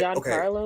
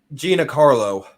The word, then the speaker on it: Giancarlo: Giancarlo Yeah, something? Gina Carlo. No, it's pronounced Jean. Like it's Italian.